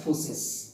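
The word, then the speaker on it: φύσις: ठीक है, बहुत सारे बुक्स में इसका स्पेलिंग इस तरह से लिखा रहता है PHUSIS, but spelling doesn't matter, pronounce it एज फूसिस।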